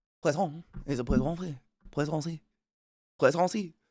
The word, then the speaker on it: poisson: Like, if you actually listen to a French person say fish, it's poisson. Poisson.